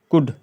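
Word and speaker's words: could: जो है देख सकते हो जैसे की कुड कुड इसमें एल नहीं पढ़ रहा हम लोग कुड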